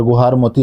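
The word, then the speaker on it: गुहार मोती: और सबसे पश्चिमी बिंदु गुजरात में गुहारमोती, हर तरह का उच्चारण यहाँ पर आपको देखने को मिलेगा, पर गुहारमोती आप याद रखेंगे, यह है।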